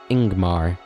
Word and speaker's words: Ingmar: grim okay and then this one is pronounced ingmar leading with a vowel sound okay ingmar it's actually